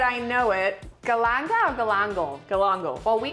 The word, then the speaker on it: galangal: And then growing up, I used to always call this galang galang. Galang But galang. that's not how you say it. I know it. Galanga or galangal?